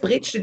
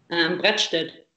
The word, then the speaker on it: Bredstedt: Ist Bredstedt eigentlich richtig ausgesprochen? Wie spricht man es aus? Brettstedt.